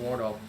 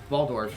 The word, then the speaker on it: Waldorf: down or at least denying a vision from wardle waldorf sorry i'll pronounce it correctly at some point all right